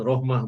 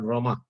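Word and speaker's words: رحمة: birohmah salah-salah betul Thailand salah cetak bacanya Rohmah bukan Rahma Rohmah Muhammad Insya Allah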